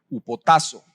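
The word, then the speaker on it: ὑποτάσσω: Viene de una palabra griega que se pronuncia upotazo.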